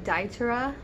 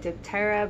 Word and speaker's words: diptera: and this is hoya daitera i originally pronounced it diptera because i did not know the p was silent but you guys know